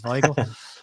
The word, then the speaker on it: Weigl: I've been corrected on his pronunciations, Weigl.